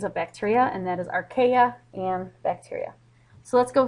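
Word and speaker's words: Archaea: and domain archa that's how you say it archa and notice that all of organisms have they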